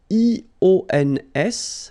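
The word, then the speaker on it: -ions: So now let's see nous, and nous goes like I-O-N-S, okay? And it should be pronounced ion. Remember, final S is not pronounced.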